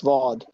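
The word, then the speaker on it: ضاد: তারপরে হচ্ছে দ্বদ। দ্বদের উচ্চারণটা সদের মতোই কিন্তু দ, দ, দ। দেখেন ডালের দ, আর এখানে হচ্ছে দ।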